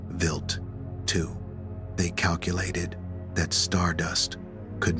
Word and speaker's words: Wild 2: For its primary target, scientists selected a comet known as Wild 2 (pronounced Vilt two).